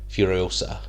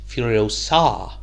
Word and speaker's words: Furiosa: If you had to ask the average man on the street, I think they'd say it's Furiosa, but it's actually pronounced Furiosa, which is an A1 joke if you grew up with the Harry Potter movies.